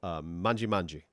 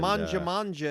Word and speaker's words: Mangia Mangia: off the beaten path called Mangi Mangi, which I guess means eat Yes. in Italian. I think And, manja manja is how people pronounce it. Oh, Manja manja. But anyway. Yeah, that makes more sense.